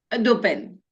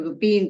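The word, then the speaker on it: Dupin: Dupen. Dupen es o dupen se pronuncia o Dupín, como vos quieras.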